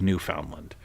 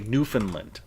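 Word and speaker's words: Newfoundland: they like to say New Finland right New Finland it's not New Finland it is New Foundland they pronounce it strictly how it's spelled New Foundland like and you know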